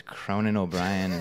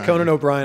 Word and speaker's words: Conan O'Brien: a hard time and they mispronounced his name as cronin o'brien that's that's it these are not fun for these people every time someone says conan o'brien i love that you